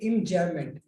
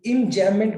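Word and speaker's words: enjambment: कर जाता है तो हम उसको बोलते हैं इंजैममेंट। इसका स्पेलिंग लिख देता हूं मैं, EMJAMBMENT, इंजैममेंट बोलते हैं इसको।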